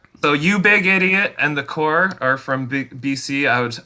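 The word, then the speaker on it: The Corps: So one is called The Core, and it's spelled CORPS, The Core, and they are just amazing skate punk.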